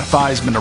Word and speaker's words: Theismann: originally first of all he changed his name from C's Minh the Theismann around with Heisman when he was at Notre Dame the perception that is associated with that could turn some people's stomachs I get it Heisman rhymes with Heisman even though his name